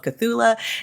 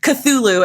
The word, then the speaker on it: Cthulhu: In her free time, she plays Call of Cthulha and is a proud letterboxed addict. Courtney, welcome to What the Friend. Hi, thanks for having me. Absolutely. And of course, I butchered Cthulhu and I am showing off that I don't know games.